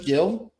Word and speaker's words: Geil: But we want to thank Cyclotron and Nathan Berger and Geil. Did I say your last night, Rep? Did I say it right? Geil. I did. Like Jay Geil's band.